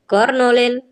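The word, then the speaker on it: colonel: कर्नल की spelling होती है कोलोनल। क्या होती है? कोलोनल होती है।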